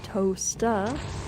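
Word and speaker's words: Towcester: Toaster, Colchester. Any other guesses before I tell you how it's pronounced? It's Towcest.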